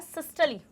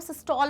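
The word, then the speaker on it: systole: बहुत सारे लोग जो होते हैं वो सिस्टॉल बोलते हैं, बट सिस्टॉल इज नॉट a right correct pronunciation for this, सिस्टली, सिस्टली हो जाएगा।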